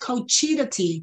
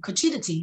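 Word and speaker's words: cuccidati: donata says that those are fake cookies it's pronounced cochita tea cochita tea oh okay okay so that must be the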